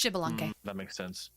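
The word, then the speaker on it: Xibalba: Uh I only know how to pronounce that because they were playable in Smite, so I know how how you say it. It's Shibalang.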